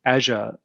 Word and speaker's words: Azure: bit more detail and you might call it azure or um i tend to to use the the american pronunciation because i hear it so many times every day of of azure well that's probably not even the american pronunciation it's my own weird version of it but let's have a